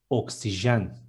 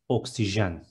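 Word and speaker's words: oksijen: Next one, oxygen is oxygen. We don't have the letter X in Turkish alphabet. We use K and S together, and it is oxygen.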